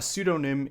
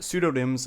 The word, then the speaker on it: pseudonym: Now, the P is silent.